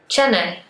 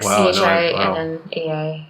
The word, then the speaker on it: Chennai: Sometimes I feel like I'm not digging into the N hard enough and jumping out of the AI briskly enough, like I'll tell you